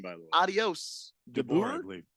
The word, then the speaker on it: DeBoer: DeBoer, I believe. DeBoer.